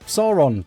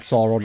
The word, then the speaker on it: Sauron: This one is actually called Sauron. I keep mispronouncing it as Sauron just because it's spelt the same.